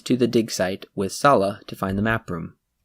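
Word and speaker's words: Sallah: they pronounce it Salah in the movie, so I'm just going with that.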